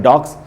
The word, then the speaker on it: dox: तो ये इसका ट्रांसक्रिप्शन है और ये रहा इसका उच्चारण डॉक्स।